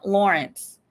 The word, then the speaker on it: Lorincz: below the case of Susan Lawrence is how it's pronounced but you see how it's spelled l o r i n CZ hit that like y'all